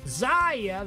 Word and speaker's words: Xayah: XAYAH, that's how I pronounce it, has a sort of Twitch ult on her passive.